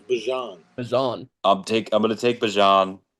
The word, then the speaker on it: Bijan: Bijan. Oh, it's Bajan.